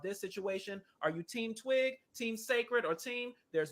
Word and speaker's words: TWYG: Now, this is TWYG, pronounced Twig, and it's a New Zealand skincare brand that was launched in June 2023.